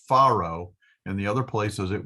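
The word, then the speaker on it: פרעה: So here in all the other cases we've pronounced it Paro with a dagish.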